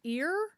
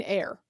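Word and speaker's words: Eyre: And then we got Jane Jane ear. And then we have that evening sun. Oh, pronounced like air. Oh, Jane air.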